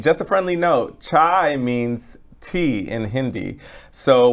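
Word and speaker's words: 차: Okay, the next one comes from Manny saying, in Korean, we pronounce tea cha, so we're almost the same.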